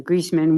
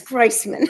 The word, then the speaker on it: Greisman: It's Greisman. Greisman. Greisman. Greisman with an I, long I. Yeah, right, even though it's EI.